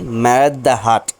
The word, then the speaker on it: মেরাদিয়া হাট: বুকে এমনই একটি হাটের নাম হলো মেরাদিয়া হাট উচ্চারণের আঞ্চলিকতায় অনেকে বলেন মেরাদ হাট হ্যালো গাইজ আসসালামু আলাইকুম